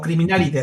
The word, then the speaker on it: Criminalidae: que se puedan remitir es llamada Criminalide o Criminalidae, así, Criminalidae, DAE Bye. o Criminalide, así se pronuncia.